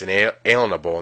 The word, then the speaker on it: unalienable: Now really quick, an unalienable right, pronounced inalienable in today's words, means a right that cannot be liened or a right given to you from God.